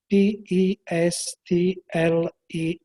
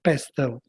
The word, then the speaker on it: PESTLE: external factors the so-called p e s t l e Factor pastel or pestle according to the different pronunciation so a very good